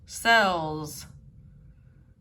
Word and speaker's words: sells: a salesperson blanks clothes cells notice the different pronunciation a sales person ale ale a sales person so you can hear the a sound and sails and then the short e sound in cells a sales person